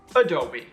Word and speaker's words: Adobe: brand name incorrectly however the one and only way to pronounce it is Adobe okay accidentally opened Adobe